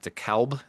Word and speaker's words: DeKalb: But I'm gonna say that DeKalb. Thank you for gently correcting my pronunciation.